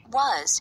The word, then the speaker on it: was: electric bill pronunciation pointer was is pronounced differently depending on the stress unstressed it sounds like